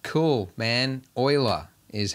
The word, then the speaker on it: Euler: looking for rotate euler is that how you pronounce that word euler leonard oyler all right that's that is wild that's why all right he's swiss basil swiss all right cool man euler is how we're supposed to pronounce your name